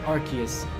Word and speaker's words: Arceus: I say Arceus. There's no official pronunciation.